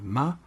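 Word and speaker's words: 骂: Petit conseil de prononciation pour le quatrième ton. Ne démarrez pas trop bas dans les graves, vous n'arriveriez plus à descendre. La tonalité est explosive.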